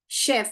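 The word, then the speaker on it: chef: मैंने बताया था इसको चेफ करके बहुत लोग पढ़ते हैं। मगर इसको हम क्या पढ़ते हैं? शेफ पढ़ते हैं। हम चेफ नहीं पढ़ते हैं। केफ नहीं पढ़ते हैं। हम शेफ पढ़ते हैं। तो एस एच का साउंड ही यहां पर निकलता है।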